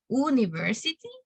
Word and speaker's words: university: The correct pronunciation is university. It's not university. It is university.